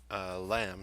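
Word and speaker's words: Hlam: That was the monk Lamb, spelled H-L-A-M. The H is silent.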